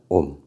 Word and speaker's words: 옴: 옴이라고 읽습니다. 옴.